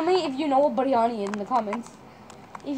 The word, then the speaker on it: biryani: Biryani. How do you say it? Biryani. Biryani.